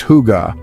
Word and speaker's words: hygge: This feeling has a name, hygge, pronounced huga.